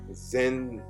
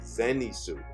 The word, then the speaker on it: Zenitsu: pronounce his name right, Zensu. You know, the yellow hair guy, Zenitsu. That's how you pronounce it, Zenitsu.